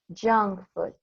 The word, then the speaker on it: junk food: We pronounce this as junk food. La J al inicio va a sonar fuerte.